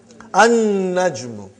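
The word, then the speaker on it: النجم: An-najmu. You did not pronounce lam because noon is a shamsi, sun letter.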